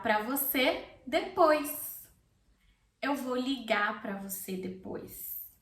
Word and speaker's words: ligar: Notice that ligar has an R at the end and I don't pronounce the R. It's optional, okay, at the end of words if you want to pronounce it or not.